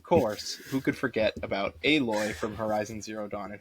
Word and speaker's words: Aloy: it's spelled Alloy, but it's pronounced Aloy.